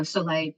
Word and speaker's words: Soleil: brand it just sounded good and you know soay for anyone who doesn't know is the French word for sun there and it's spelled s o e i l that's the